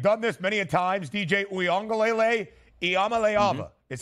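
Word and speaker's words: Iamaleava: there listen we've done this many of times DJ UA is how you pronounce his last name Nico I I'm sure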